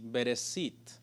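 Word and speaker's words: בראשית: la la expresión sh y la tras la pronuncia en sí bereshit eso es lo que significa en el principio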